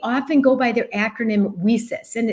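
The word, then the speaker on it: WiCyS: go by their acronym whis and it's spelled w i c Ys and we pronounce it whis like we sisters because that's exactly what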